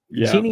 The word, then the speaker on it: Genie: Genie Genie Genie yes we call it Genie Genie is the right way to say it and